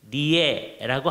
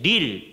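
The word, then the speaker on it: Lille: L-E-L-L-E, 리에라고 하기도 하는데 리어 이렇게 들리기도 해요. 근데 릴 되게 그러는데 불어로는 릴이에요.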